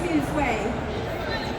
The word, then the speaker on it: mille-feuille: it's mille-feuille.